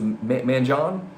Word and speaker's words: Manjon: like like last game that Manion guy I think it was manjon that's how you pronounce his name he eviscerated us last